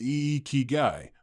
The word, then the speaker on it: ikigai: In Japan, there's a beautiful concept called ikigai, pronounced e kigai, which roughly translates to reason for being or purpose for living.